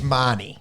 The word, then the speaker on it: Mahoney: And then if Harry Grant's out, I've got Reid, Mahoney. I think I got it right first. Mahoney. Yeah, I think it's Marnie. Marnie is how they say it. Yeah. How it looks is Mahoney.